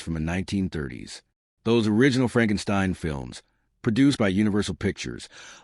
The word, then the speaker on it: Frankenstein: Frederick Frankenstein, the grandson of the famous Victor Frankenstein.